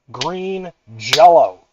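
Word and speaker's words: Green Jellÿ: First and foremost, green jello.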